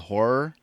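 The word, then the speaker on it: Ho99o9: meets sort of punk rock and they're called horror and it's like spelled uh it's spelled ho9909 and dude this is this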